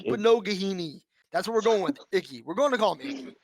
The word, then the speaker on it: Igbinoghene: Even the announcers last week couldn't pronounce it. Noah Igbinoghene. It's like Igbinoghene.